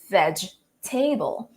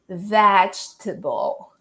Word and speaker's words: vegetable: And when we see this word right here written like this, we tend to pronounce it as vegetable because we already know how to pronounce the word table.